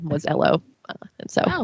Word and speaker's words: Elo: him is it pronounced elo like jeff lynn's band or ello like a british person saying hello and that's when i learned that it is named after a guy whose last name was ello and so it's just